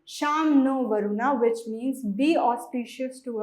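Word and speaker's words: शं नो वरुणः: The emblem of the Indian Navy contains the motto Sam No Varuna, pronounced Sham No Varuna, which means be auspicious to us, O Varuna.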